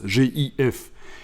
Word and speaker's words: GIF: monde prendre aux griffes mais en réalité en anglais c'est gif que ça se prononce jf et ça ce sont